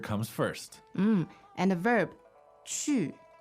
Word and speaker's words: 去: and the verb 去，去 All right, so that's Q-U, 4th tone, right? 对 Chu.